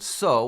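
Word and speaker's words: sol: fifth interval is called so with an L at the end that we don't pronounce s o so an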